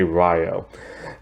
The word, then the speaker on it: Ryo: But anyway, the story starts off with like Ryo, who's now called Rio, because I guess the Japanese pronunciation is Rio, but I'm still gonna say Ryo.